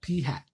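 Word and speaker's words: p̂: Okay, that's how you pronounce this guy. It's called p hat.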